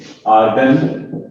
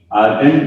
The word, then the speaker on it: Argand: दो, इसके स्पेलिंग है आर्गन, ARGAND, आर्गन diagram. D silent है, इसको प्रोनाउंस करना है आर्गन डायग्राम, ये वाला डी साइलेंट।